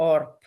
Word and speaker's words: orb: B si pronuncia P, cieco, orb si pronuncia orp.